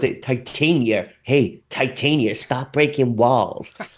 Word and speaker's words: Titania: A few people are telling us how to pronounce Titania by saying it's Titania, which we are We're ignoring you all. We are aware of this. Go and watch our Secret Wars stream. We have a whole debate about how it should be pronounced.